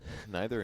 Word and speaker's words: neither: Neither and neither. I'm sure. Neither, neither. I think both are acceptable.